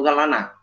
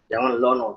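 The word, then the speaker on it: لَنَا: Jangan lillah atau lana. Jangan lono tapi lana ya, lana. Jadi jangan lono, lana.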